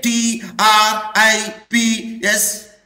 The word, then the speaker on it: TRIPS: it is acronym Professor it is an acronym because we pronounce it as a one word can you say t r i p s no I did not